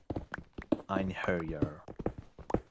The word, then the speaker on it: Einherjar: it's pronounced Ein. Einherjar.